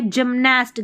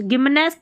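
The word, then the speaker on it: gymnast: Gist, यह है जिमनास्ट, गिमनास्ट नहीं, जिमनास्ट।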